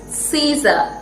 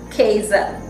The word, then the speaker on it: Caesar: had its way in this way remember it's caesar and not kaizen along with the rule i would like to